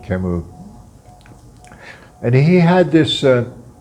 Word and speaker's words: Camus: whose name I pronounce Albert Camus. His last name is spelled Camus, but I think as a French name you would pronounce it Camus.